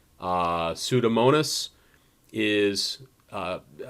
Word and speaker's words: pseudomonas: so something like uh pseudomonas is uh the p is silent and the s is pronounced same thing with pneumonia